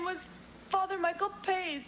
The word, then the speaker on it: Pace: Pace, you said your name was Father Michael Pace. In inglés. In italiano mi nome se pronuncia Pace.